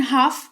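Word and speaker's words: half: फिलहाल जान लो कि एच ए एल एफ लिखा हुआ है लेकिन हाफ इसको पढ़ेंगे। एल का उच्चारण नहीं करते हैं और इसका मतलब होता है आधा या आधी।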